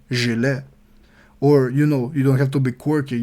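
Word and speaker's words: gilet: want to say vist you have to say jile I know it's very hard to pronounce because it has a z at the beginning of the word but still if you want to say jile correctly please practice it like that don't say jet Gillette is for shaving Ghillie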